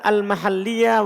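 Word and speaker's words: المحلية: Kata beliau sabi'an wa thamina yang ke-7 dan ke-8 al-mahalliyah wal-haliyah. Tasdid lamnya ya, karena beda artinya kalau tidak ditasdid.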